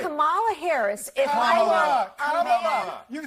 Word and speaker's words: Kamala: Let me actually pronounce her name right. Kamala Harris. If Kamala.